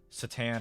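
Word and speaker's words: C'tan: I've heard it pronounced with a soft and hard C. I prefer Catan, like Settlers of Catan, but Satan I've also heard.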